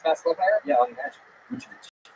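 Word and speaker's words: Vučević: Vucevic. Say his name again? Vucevic. So, yeah, that's pretty much spot on. Vucevic.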